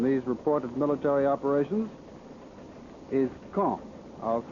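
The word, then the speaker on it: Caen: of gravity in these reported military operations is K I'll spell that c a en the big city at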